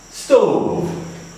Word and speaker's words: stove: word is CLO clo the second word stove it is pronounced as stove because there is a